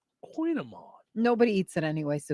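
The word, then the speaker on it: kouign-amann: my goog lady uh uh they say it's pronounced Queen Amon Queen Amon nobody eats it anyway so no no one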